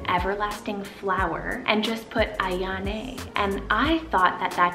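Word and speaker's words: Aiyane: And then another really beautiful, almost romantic-y sounding name is the name Ayane. So it's spelled A-I-Y-A-N-E with a little accent.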